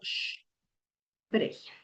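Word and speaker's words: sprechen: Sí, la sp también lleva ese sh. Entonces, por ejemplo, para el verbo spregen. Hm. Entonces se pronuncia como sh pregen.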